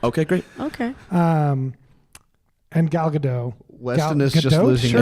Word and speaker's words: Gadot: It's Gadot. It is. Okay. I'm pretty sure you pronounced the and I T.